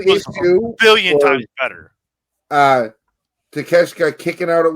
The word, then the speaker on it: Takeshita: Takeshita the real deal?